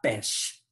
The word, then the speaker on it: pêche: Oh, je viens de noter qu'avec l'accent circonflexe, c'est ce petit toit, le petit chapeau qu'on pose sur les lettres, par exemple pêche. Ça aidera à la prononciation du E ouvert. Et pêche, c'est comme pastèque. Pêche, poire, pomme, la pomme.